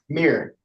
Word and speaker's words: Mier: matter Meer m r is that correct Mir yes pardon me I've been calling you Meer all along and we have M Mr langager